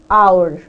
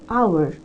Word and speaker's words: hour: Now the sound that comes here is our. It's not hour, it's not pronounced. So H is not pronounced here, so it is our.